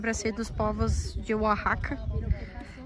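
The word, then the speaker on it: Oaxaca: E essa parte aqui, em princípio, é para ser dos povos de Oahaca, aqui no México, akaca, né, que se escreve oakaca, muito bonito.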